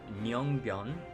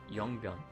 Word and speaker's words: Yongbyon: This, it looks like it's Myeongbyon, but that's actually the North Korean way of pronouncing it. In South Korea, they pronounce it Yongbyon.